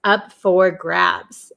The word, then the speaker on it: up for grabs: is up for grabs, up for grabs. Okay, and pay attention to how we pronounce it. So we usually say up for. Usually in American English, this for turns to fur, up for grabs, up for grabs.